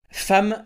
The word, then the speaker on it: femme: Femme, ça s'écrit avec un E et ça se prononce avec un A.